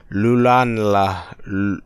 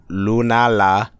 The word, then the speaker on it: Lunala: maybe maybe my nose is stuff I can't pronounce her that well today lulan lunala I got it right now lulan lul lunala